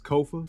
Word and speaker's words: Kofa: everybody being here again my name is Kofa k-o-f-a Kofa rhymes with sofa not coffee not Khufu not Kofi or any variation thereof this is grow tall